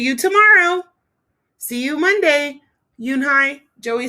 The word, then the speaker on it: Unhei: turned to joey she nodded slowly yes it's pronounced yoon hi and it means grace mr kim added yoon